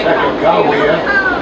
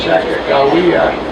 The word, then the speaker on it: Sacagawea: I understand it's better pronounced Sacagawea. Eastern newspaper meant for a J in the word instead of a G.